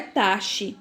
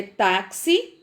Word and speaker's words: táxi: Não é taxe, é táxi, oxigênio, crucifixo e durex.